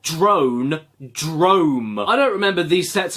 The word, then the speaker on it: Drome: Drome rhymes with gnome, man.